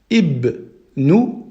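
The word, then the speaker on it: ابن: Comment on va prononcer ceci? On va prononcer avec une kasra. En dessous, on va dire ibnu, ibnu.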